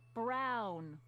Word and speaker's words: Brown: That's Emmett Brown. Rhymes with clown, which I'm beginning to think you are.